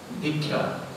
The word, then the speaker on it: দীক্ষা: দীক্ষা সংস্কৃত উচ্চারণ দীক্ষা, তার মানে কি হচ্ছে,